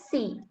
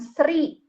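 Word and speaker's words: ศรี: Jadi di contohnya, kita lihat di contohnya, ini ada sosala sama rorea sama sarai, itu dibacanya si, bukan sri, gitu ibaratnya.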